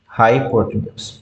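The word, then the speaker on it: hypotenuse: उसको हम प्रोनाउंस कैसे करते हैं, हाइपोटेन्यूज।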